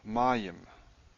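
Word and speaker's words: מים: Mayim. Mayim is water. It's in a dual. Who knows why? Stress is here, incidentally.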